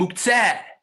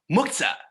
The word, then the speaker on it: muktzeh: And muktzeh, or in Yiddish and Ashkenazi pronunciation, muktzah, what gets set aside?